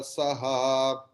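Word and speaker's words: saḥ: Yes, sada mukta eva saha. Then visarga's pronunciation will be like sakara.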